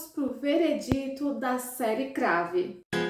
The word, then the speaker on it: Crave: identifico tanto que não consigo falar como série crave e trago para vocês aqui a pronúncia como crave mesmo e antes de eu